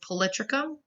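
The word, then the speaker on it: Polytrichum: moss on the left and the way you pronounce that is Politico and then nyam is the moss on the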